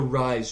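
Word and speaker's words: Ryze: what they're kind of going for, is the Rise treatment is how they pronounce it.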